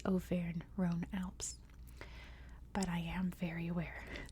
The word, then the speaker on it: Auvergne-Rhône-Alpes: Paris you know so since I am American and speak American English I'm going to pronounce it that way which is O Ron Alps but I am very